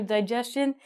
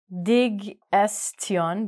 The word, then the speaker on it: digestion: So this word, it looks like digestion, but it's digestion. Digestion. Oh, there's a chin at the end.